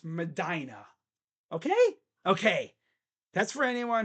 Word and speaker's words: Medina: It's Medina. Kind of grinds my gears when I hear people say mispronounce that city's name.